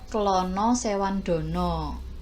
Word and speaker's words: Klana Sewandono: seniman ini tertuang pada babad klana sewandono babad klono sewandono gitu kalian bacanya yang bercerita tentang seorang